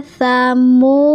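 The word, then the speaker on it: ثمود: Asalnya dal fathah jadi dal sukun. Asalnya wasamuda. Nah, bila wakof atau berhenti jadi wasamud. Nah, ingat, ketika dal berharokat sukun maka harus dipantulkan ya bacanya ya. Wasamud.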